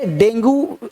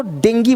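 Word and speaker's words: dengue: जैसे डेंगू, अभी आजकल फैशन में चलता है, डेंगू किसी को हो गया तो इसको डेंगी बोलना है, डेंगी हो गया, डेंगी। ये है डेंगू, तो डेंगू नहीं, डेंगी, डेंगी हो गया। तो डेंगी इज a right pronunciation, तो डेंगी इज a right pronunciation.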